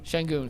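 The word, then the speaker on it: Şengün: Shenun. Shenun.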